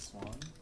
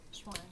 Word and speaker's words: Xuan: How do you say that? 50 cents. Is it Swan? Schwan. Schwan.